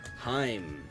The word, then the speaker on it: Heim: Kind of like him, like at the end of like Anaheim.